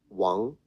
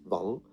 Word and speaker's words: Wang: Wang, the name, rather than Wang.